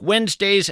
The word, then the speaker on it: Wednesday: It's not like it sounds. You want to spell it we enz, but that of course would be a mistake.